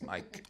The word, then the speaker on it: Mic: It's not Mick Excel. It's Mike.